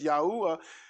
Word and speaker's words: Yahuwah: and the hey character and it's yahuwah and and so that's how we pronounce it and that's his name